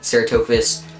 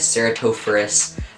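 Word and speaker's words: Ceratophrys: But anyways, Pacman frogs, there's like cranwelli, or Ceratophus cranwelli, Ceratophus cornuta, Ceratophus ornata. They're all the genus Ceratophorus, not Ceratophus, Ceratophorus. I've been saying it wrong.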